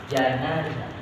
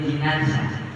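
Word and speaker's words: جنازة: nama untuk keradanya jadi kalau dibaca patah janazah J janaza tuh jimnya dipat pat ini berarti mayat Ini masih di dalam kerang tapi kalau dibacanya Ji jimah dibaca kas kasr ini adalah kerandanya makanya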